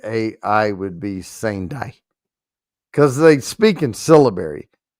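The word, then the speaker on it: Sendai: And actually E's are pronounced as A's. So it's sai. Okay. Okay. S e n d ai would be sane day because they speak in syllibary sai sanai.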